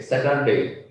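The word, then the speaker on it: Saturday: স্যাটারডে, স্যাটারডে, স্যাটারডে, র উচ্চারণ কিন্তু আর নাই।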